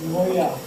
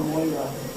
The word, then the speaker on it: Moira: Oh, that's Greek, so that's Moya. Ha? That's pronounced as Moya or Moira.